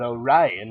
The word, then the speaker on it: Orion: There are many ways to pronounce the Orion Nebula, but Orion is the only correct way.